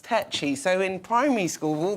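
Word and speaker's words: Takyi: think oh it's tacky yeah and tacky means cheap and all these things which you guys know i'm not but it's actually my surname is pronounced techie so in primary school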